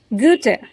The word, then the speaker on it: Goethe: like to highlight that most people, in fact, almost everyone pronounces this particular word incorrectly. They say "Goethe", "Goethe", and many other ways. I would like to correct it. It is Goethe.